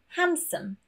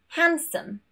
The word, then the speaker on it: handsome: Moving on to the letter D, and this is when we have an N next to the D. For example, handsome, handsome, handkerchief, handkerchief, sandwich, sandwich.